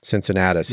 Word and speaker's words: Cincinnatus: project Cincinnatus Cincinnatus did I say it right Cincinnatus yeah yeah so both of you are working